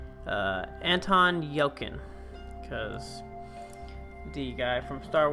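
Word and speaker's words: Anton Yelchin: Van Wilder, Muhammad Ali, and I want to pronounce his name correctly, Anton Yelkin.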